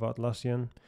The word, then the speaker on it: Atlassian: software teams we'll know this obviously part of atlassian that's how you pronounce it we have so many of these